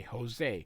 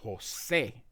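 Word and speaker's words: José: So, most people in English say Jose, but it's actually Jose. And you can see there's an emphasis. That's the word emphasis on the E.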